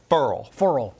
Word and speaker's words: Ferrell: Furl. Isn't that a weird way to pronounce it, though?